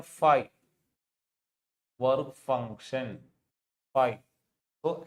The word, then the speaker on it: phi: This is pronounced as phi. PFI. Phi.